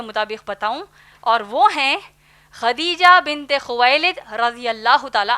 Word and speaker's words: خدیجہ: ان کا نام اصل میں خدیجہ رضی اللہ تعالی عنہا ہے. ہم عام طور پر ان کو ختیجہ کہتے ہیں، دراصل نام ہے خدیجہ جس کے ہجے ہیں